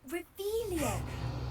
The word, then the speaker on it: Revelio: You're Revelius. saying it wrong. Ugh, Revelio. Much better.